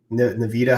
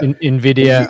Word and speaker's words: Nvidia: um you know into the what's what's um Nvidita how you say it? What's what's that valuation right now? Nvidia Nvidia the the valuation is way higher